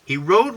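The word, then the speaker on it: Hiro: He rode roughly and came off the rails and ignored all the warnings.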